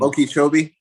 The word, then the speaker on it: Okeechobee: I always pronounce the name of that town wrong there in Florida. Okeechobee.